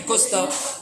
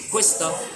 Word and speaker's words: cuesta: justement, si on enlève la diphtongue, ça fait costa. Mais il y a une diphtongue, c'est cuesta. Cuesta.